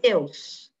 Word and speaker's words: Deus: a os que Deus tem muita gente que acha que a palavrinha Deus tem duas sílabas não é eu não falo assim Deus eu falo tudo junto Deus então Deus tem uma única sílaba tá que a os